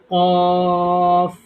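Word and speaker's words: ق: শুধু টেনে বলছি আমরা আর কটা একটু মোটা করে বলবো কফ কফ কফ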